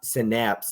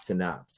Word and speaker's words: Synapse: I see not a birthday nothing it's it's pronounced syap synapse not synopse and I was like not today I'm not